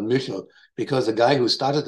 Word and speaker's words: Michel: is the missile catalog some people pronounce it in North America Michael but in Germany they're called Mutual because a guy who